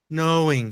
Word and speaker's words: knowing: knowing é knowing né o k aqui ele morre knowing Fala aí knowing knowing